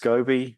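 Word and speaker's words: SCOBY: products that you use in Foods um it's pronounced scobby uh it's at the heart of Kombucha um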